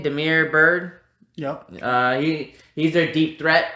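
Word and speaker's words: Damiere Byrd: Demir Bird.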